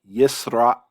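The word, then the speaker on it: ישראל: You can see this in the Hebrew pronunciation of the word for Israel, Yisrael, Yisrael. There's a pause there. And so when you have that pause, Yisrael, that's that glottal stop.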